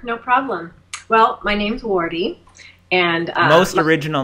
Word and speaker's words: Wardeh: And so, if you want to remember this, if you're a visual, need to see letters kind of person, just remember it as W-A-R-D-E-E.